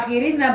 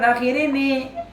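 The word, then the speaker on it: الآخرين: Kenapa dibaca akhirina bukan akhirini?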